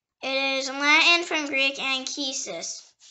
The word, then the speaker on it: Anchises: The next word is Anchises. Anchises. It can also pronounce Anchises.